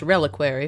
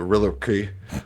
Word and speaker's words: reliquary: Also pronounced reliquary for.